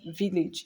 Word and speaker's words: village: I just explained let's say you want to pronounce Village in English and in euroba if you want